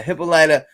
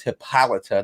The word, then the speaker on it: Hippolyta: and diana and and this is hippolyta not hippolyta it was that way it would be pronounced that way but you know wonder